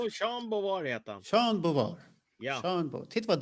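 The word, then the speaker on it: Jean Beauvoir: Ingen som kan uttala hans namn, så det är lugnt. Jo, Sean Bovar heter han. Jean Bovar.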